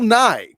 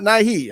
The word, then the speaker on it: Nye: interchangeably i was incorrect it was bill nye that's it not naihee i was i was wrong it's just bill nye wow the y is silent and lastly derek john